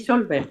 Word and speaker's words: Solveig: en El amor de Solveig, no sé si lo pronuncio bien, Solveig. Sí. Sí, creo que es así, Solveig. Sí, Solveig. Así lo pronunciaban allí.